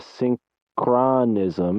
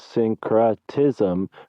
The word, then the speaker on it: syncretism: things and names and he called it a synchronism and and santos was like no no no this is synchrotism which is the fusion of differing systems of belief and you're saying that